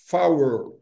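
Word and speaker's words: four: Então o número quatro em rádio telefonia não é for ou power, não é power para diferenciar da pronúncia. Então da da pronúncia não, da preposição for é muito comum.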